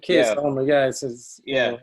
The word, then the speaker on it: Keir Starmer: it, and I still don't know how to pronounce his name properly. Keir Starmer, is this how you say it? Keir Starmer, yeah.